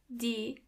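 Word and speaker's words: Tiere: animals in German or D. Do you see the E and A in the middle? When they come together after each other, they sound more like E, a longer E.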